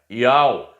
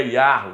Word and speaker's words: Yahu: Yahu, porque no livro de Salmo 148, o Eterno diz que até os animais louvam o nome dele. Então o nome dele não é Yahweh, não é Javé, não é Jeová, é Yahu.